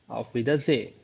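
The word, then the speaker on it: Auf Wiedersehen: तो इसकी pronunciation ऑफ ऑफ विदा ऑफ विदा से।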